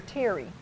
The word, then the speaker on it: Tirri: And I'm anxious, is it Terry or Tirri? Tirri, because it's spelled Tirri.